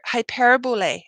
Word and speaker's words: hyperbole: they leave so that's that's hyper okay so hyperbole is how you say this hyperbole means exaggeration